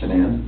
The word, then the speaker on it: Shanann: And I don't want to pronounce her name wrong, Shanann. Shanann?